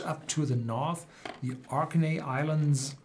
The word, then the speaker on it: Orkney: Then going much up to the north, the Orkney Islands. Also pronounced on the first syllable, Orkney.